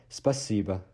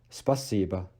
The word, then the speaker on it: спасибо: For thanks, we have спасибо, спасибо, спасибо. As usual, because O is being de-stressed as A, so we don't pronounce it спасибо, спасибо, спасибо.